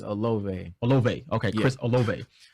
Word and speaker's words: Olave: How you pronounce it? I want to say it's Olave.